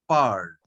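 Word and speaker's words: parlent: l e n t this final ent will now will never be pronounced okay you will come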